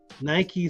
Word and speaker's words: Nike: Business Insider Greek goddess of Victory and it's pronounced Nike 's first employee Jeff Johnson came up with